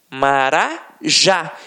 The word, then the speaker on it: marajá: A última sílaba é a tônica. Então, exemplos: urubu, motel, marajá. Reparem que na hora da pronúncia, de forma mais aguçada, você vai perceber que realmente a pronúncia da última sílaba ficará mais forte. Aqui, ó, urubu, motel, marajá. Então, realmente, a oxítona tem a sílaba tônica na última sílaba.